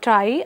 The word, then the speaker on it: trie: are going to use a try so TR is spelled as t r i e and if we want the plural thing we will say t r i e uh s so this term try actually comes from uh the word retrieval so in retrieval if